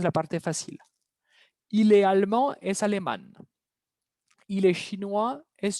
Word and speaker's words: allemande: Cuidado la pronunciación. Va a haber un cambio de pronunciación. Elle est allemande. Allemande.